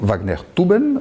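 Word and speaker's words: Wagnertuben: à être joué par quatre Wagner toutas donc Wagner tuben avec la bonne prononciation grammaticale en allemand et et ces quatre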